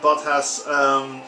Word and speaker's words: Bottas: Hamilton second, Bottas, or Botta, I think it's actually pronounced, third.